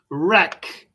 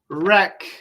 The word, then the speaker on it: wreck: right right wrong wrong wrong wrote wrote wrote wreck wreck wreck wrap wrap wrap this one's a little